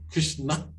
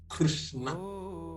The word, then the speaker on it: Krishna: you you don't even you're not even supposed to pronounce the a Krishna that's why you